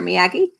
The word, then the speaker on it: Miyagi: So if you're not sure how to pronounce it, just try and remember Karate Kids, okay? Mr. Miyagi, so Miyagi Kyo.